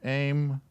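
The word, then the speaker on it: אם: This Aleph is pronounced with the Tzurei underneath it, so that must be an A-Y-M, aim.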